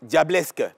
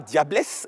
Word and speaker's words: Diablesque: comme elle a prononcé, elle-même, elle s'est auto-appelée, elle s'est auto-nommée Diablesque. Pas Diablesse, mais Diablesque.